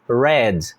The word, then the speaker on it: read: A escrita é a mesma, mas a pronúncia vira read.